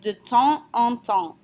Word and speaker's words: de temps en temps: Okay, we're going to say de temps en temps. So temps and en are both nasal sounds. We don't pronounce our S's. EMP and EN are both pronounced en.